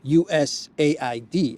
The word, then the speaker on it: USAID: us Aid of course us Aid actually is the more correct way to pronounce it us a d it looks like they